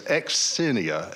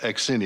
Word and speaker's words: Xenia: Greek uh but it's the x is pronounced it's not a z sound it's X and then you put a kind of a small s in front of the inia part so it's exenia exenia am I doing